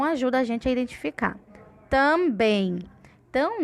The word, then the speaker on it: também: Também. Então, na palavra também, a sílaba de maior força, com maior intensidade, com maior som, é o bem, também.